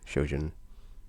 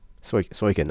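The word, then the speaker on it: Soken: soundtrack is awesome because shojin um we're not shojin soykin i'm sorry i got his name wrong so i can but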